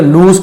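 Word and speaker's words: lose: if ever you लूज your son, इसे लॉस नहीं पढ़ेंगे, लूज पढ़ा जाता है, यदि तुम, है ना,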